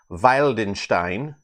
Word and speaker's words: Wildenstein: me yesterday V uh W's are pronounced like V's so Valenstein uh this is from